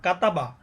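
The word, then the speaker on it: كَتَبَ: যেমন এখানে একটা শব্দ হয়ে গেছে, কাপ জবর কা, তা জবর তা, বা জবর বা, কাতাবা, নুন জবর না, ঝা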